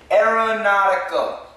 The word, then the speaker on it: aeronautical: Now, 이 친구 SuperJinho, his major is aeronautical maintenance. 와, 발음 어렵다. 왜 이렇게 발음 어려운 거 청구했어? 쉬운 거 해야지. 비즈니스. 비즈니스는 제일 쉬워요. 전공도 쉽고 발음도 쉬워. Aeronautical.